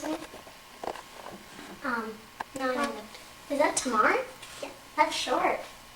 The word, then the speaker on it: Tamar: Is that how you pronounce it? No. Is that Tamar?